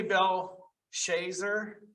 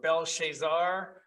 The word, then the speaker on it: Belshazzar: Some say Belshazzar or Belshazzar or Belshazzar. We'll just say King Bel.